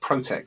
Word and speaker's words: ProteQ: Yeah, we actually pronounce it ProteQ, just like the word protect, but without we don't pronounce the C, because people see the